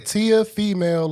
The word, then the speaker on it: Teofimo: Y'all keep pronouncing his name wrong. Teofimo Lopez.